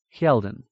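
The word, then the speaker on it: Hjeldin: g a Yar now capital h j e l d i n heldon h nearly silent here EI long I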